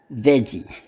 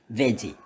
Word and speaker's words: veggie: Ini cara ucapannya gampang, veggie, kayak gini doang, veggie. Anyway guys, in Indonesia, kita di Indonesia sini kita selalu, saya perhatikan kita selalu susah membedakan bunyi v dengan yang ini.